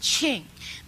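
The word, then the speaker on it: Qing: either king or queen it's actually pronounced Ching the but once I'm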